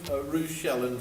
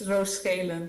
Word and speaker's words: Roos Schelen: apologies for my pronunciation, Ruth Shellen from Impetus Sport. Ruth? Hi, hi Gareth, nice to meet you. Hi. Yeah, your pronunciation was very English. I'm Dutch, so that's the name. It's Roos Schelen, but I forgive you for that.